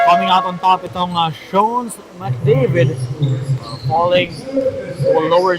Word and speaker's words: Schone: Coming out on top itong Schone McDavid, falling to a lower seed.